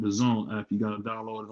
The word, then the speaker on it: DAZN: It's called the Zone app. You gotta download it on your phone. Yeah, it's DAZN. It's pronounced Dazn, but I'm pretty sure if you